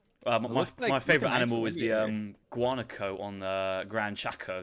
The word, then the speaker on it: guanaco: My favorite animal is the guanaco on the Grand Chaco. That's an interesting animal to pronounce. Yeah. Sounds like guacamole.